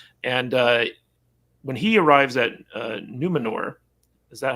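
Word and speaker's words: Númenor: And when he arrives at Numenor, is that how you pronounce it? Numenor? Numenor, yeah.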